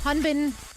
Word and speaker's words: Hanbin: the Dallas fuel franchise hanbin actually rhymes with win right yeah you can't